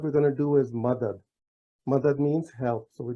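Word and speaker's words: مدد: So now we have ma, dad. So there are two Ds and M at the beginning. And that's pronounced Madad.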